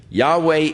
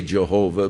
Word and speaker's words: Yahweh: of Yahweh now again Yahweh is the name of God as far as we can know pronunciations that is as close as man some say Jehovah but more generally the